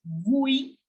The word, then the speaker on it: oui: Yes as vui. I am going to focus on the Parisian accent. So yes, I will pronounce yes as vui.